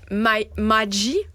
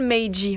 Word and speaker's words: Magee: Et donc, c'est nul autre, cet homme qui s'appelle Joel Magee. Joel Magee. On va le prononcer comme ça. M-A-G-E-E, Joel Magee.